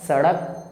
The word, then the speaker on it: सड़क: ये उच्चारण गलत हो जाएगा क्योंकि इस बड़े ड़ की इंग्लिश होती है डी, इसलिए हमें बोलना होगा सड़क, सड़क।